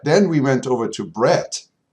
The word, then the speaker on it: Brett: went over to Brett have to be very careful with my pronunciation because it's breast not Brad so just a disclaimer in case I get it wrong later on in this video okay it's brett so Brett is the